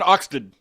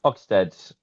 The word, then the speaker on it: Oxted: Last one, Oxted. Oxted? Is that how you say it? Oxted? Oxted.